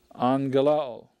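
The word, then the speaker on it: αγγέλλω: right the next word angelo angelo i announce remember the double gamma has the ng sound next word iro iro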